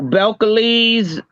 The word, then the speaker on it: Belcalis: Oh, Belcalis.